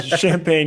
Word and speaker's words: Champaign: How do you guys pronounce it up there? Yeah, Champaign. You got it. Yep. I was trying too hard. Champaign, Illinois.